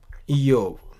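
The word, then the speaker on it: איוב: अय्यूब और जोब अंग्रेजी में, अय्यूब को इयोव ई होता है, आ ई हो जाती है और ब व होता है, इयोव।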